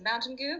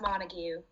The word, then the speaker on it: Montague: Really, her name is Mountain Goo, but it's pronounced Montague.